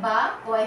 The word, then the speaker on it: বাক্য: যেমন দেখো বয় আকারে বা, কয় হসন্ত বা, কো, কয় ওকারে কো, বাক্য। ঠিক এইভাবে উচ্চারণ কিন্তু করতে হবে।